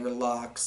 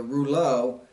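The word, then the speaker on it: Reuleaux: Thanks everybody for, I know I was saying Relux and all that, and there's a reason why behind that too. But the Rouleau, this box is absolutely awesome.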